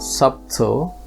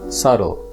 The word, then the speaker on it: subtle: easily noticeable or obvious in this word the b is silent so it's not subtle but it's subtle however in the word